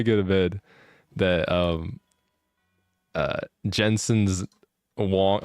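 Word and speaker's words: Huang: to bed that Jensen's Wong, like Wong, you know, the Jensen Wong. I was thinking Wong was spelled like Juan, like Spanish Juan.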